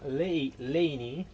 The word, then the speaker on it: Leinì: Ci troviamo in questo momento a Leni, perché ho capito che ci sta anche l'accento sulla I.